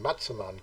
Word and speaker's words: Massaman: NDTVI, Patia, Massaman Curry. They actually pronounce it Matsaman Curry over here.